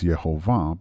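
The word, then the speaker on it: Jehovah: As a side note, I pronounce the name Yu Vave as Yhovah because that is the most common way of pronouncing this name, if it is even mentioned at all.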